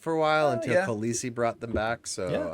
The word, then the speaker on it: Khaleesi: It's Khaleesi.